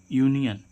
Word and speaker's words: union: ऐसे इसमें देखें यूनियन, UNION, तो किससे शुरू हो रहा है वर्ड?